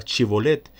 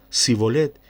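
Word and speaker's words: Shibboleth: era ateo para cerciorarse le hacían pronunciar la palabra chevolet y aunque deseaba hacerlo bien y se forzaba decía sí bolet y esto lo delataba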